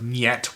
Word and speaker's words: Niet: My friend Jack Torrance would end up corresponding with the leader of Niet, which, by the way, is how it turns out you pronounce their band name, and he explained how